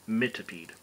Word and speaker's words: Mitipede: call it miter m-i-t-e-r maybe but this one mint to peed my tepee however you want to pronounce it i'm going with mitipede uh so 17 racial points there they are